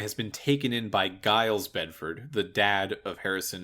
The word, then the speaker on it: Giles: His name is pronounced Giles.